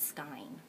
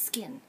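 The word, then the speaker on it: Skyn: made a video before I call it Sky it's skin really Sky hello anyways not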